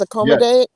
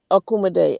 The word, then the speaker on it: Akoma: dealing with aom right it's aom am I pronouncing it properly yes aom akum and could you explain